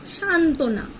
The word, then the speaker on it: সান্ত্বনা: আবার দেখো, যদি একাধিক সংযুক্ত ব্যঞ্জনে ব থাকে, মানে ব ফেলা থাকে, তাহলে ব ফেলা অনুচ্চারিত হয়। যেমন সান্ত্বনা, এখানে দেখো দন্তান্বয়ে তয়ে তার সাথে ব যুক্ত হয়েছে।